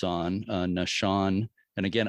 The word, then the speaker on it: Naushon: And again, I've always thought it was pronounced Naushon, but I've been corrected by you and somebody else with the Cuttyhunk Historical Society, and told it's Nashan. Is that a better pronunciation?